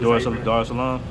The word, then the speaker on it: Dar es Salaam: I'll be going to Dar es Salaam, I believe. Dar es Salaam. How you pronounce it?